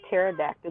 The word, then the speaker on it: pterodactyl: Why can't you hear a pterodactyl go to the bathroom? I don't know. Because the P is silent.